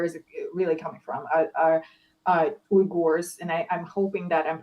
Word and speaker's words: Uyghurs: It's Uyghurs, and I believe it's pronounced oh, as Uyghurs.